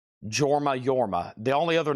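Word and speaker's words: Jorma: This is Yorma, which is spelled with a J. Yorma is spelled J O R M A. It's pronounced Yorma. Yorma.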